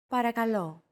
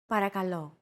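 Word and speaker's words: παρακαλώ: and repeat after Chrissy paragalo para calo chances are your pronunciation was pretty spot on the p r k and l sounds are practically identical to English don't forget that words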